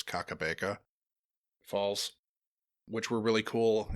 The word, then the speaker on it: Kakabeka: I'm not sure if I'm pronouncing this correctly, but I think it's Kakabeka Falls, which were really cool.